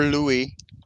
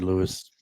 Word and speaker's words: Louis: And so I knew it was Louis. I don't know why I said Lewis. It's spelled I've like Lewis.